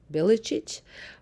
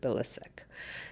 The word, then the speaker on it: Bilicic: Actually, the proper way of saying my last name is Bilicic, but in Canada, everybody pronounces it Bilicic.